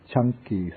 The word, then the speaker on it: Canki: This is called the Canki Sutta. In Pali, the C, it's pronounced like CH.